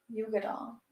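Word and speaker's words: Uigeadail: that go ahead and tell me how to pronounce it Yuga doll yeah but it's UI g e a i get my part in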